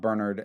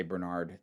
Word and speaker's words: Bernard: I know in the UK it's pronounced more Bernard, and like I'm American, so we say Bernard.